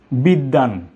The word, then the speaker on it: বিদ্বান: আমি বলি খুব সহজ নিয়মটি, যে যদি শব্দের মাঝখানে বা শেষে ব ফলা থাকে, তাহলে ব এর উচ্চারণ হবে না। ব যার উপর আশ্রিত, সেই আশ্রয়ী বর্ণটির দুইবার উচ্চারণ হবে।